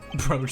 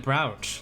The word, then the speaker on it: brooch: Broach the It was a broach. large dressing room divided into two halves. And the murder took place in the inside half. You pronounce it brouch, like eyebrow.